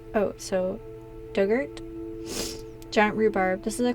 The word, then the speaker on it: Durgat: Pronunciation Dug, like the past tense of dig. Ort rhymes with ert. Oh, so Dugert?